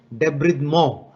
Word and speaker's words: debridement: You need to do a debridement as it is written, but the correct pronunciation is debridement. It's a French word.